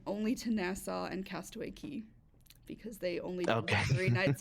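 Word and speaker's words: Cay: Um so I experienced a lot of Nassau and a lot of Castaway Key. Um, yes. It's key, not K, even though it's spelled C A.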